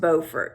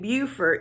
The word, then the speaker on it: Beaufort: So it's in Beaufort, and yes, it is pronounced Beaufort. If you hear someone saying Beaufort, they're either A, mispronouncing it, or B, they're talking about Beaufort, South Carolina.